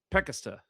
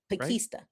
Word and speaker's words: Pakesta: Okay, so you said it's pronounced Pakesta. Pakesta. Right? I know. A package at Easter.